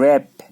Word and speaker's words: wrap: अब डब्ल्यू भी साइलेंट रहता है, जैसे है ना WRAP, रैप, रैप बोलना है। डब्ल्यू साइलेंट है, रैप ज्यादातर ये यूज, WHOLE, whole, W silent है, होल बोलना है इसको, वोल नहीं बोलना है, होल।